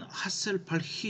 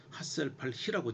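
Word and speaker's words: Hasselbalch: 이번에 이제 말씀드릴 것은 그 핸더슨 하셀팔히 이퀘이션. 이게 발음이 이게 아마 독일 사람 같아서요. 그냥 하셀팔히라고 제가 발음합니다.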